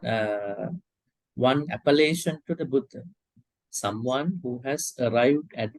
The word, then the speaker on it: Buddha: called foreign Buddha you need to you need to pronounce two D's One D is second one is huh I hear something like pee um foreign sometime speakers use putang Buddha there is a their pronunciation something right so we have to correctly understand Buddha or Subway once again I hear T I hear T sound you have to get rid of the T sound it is D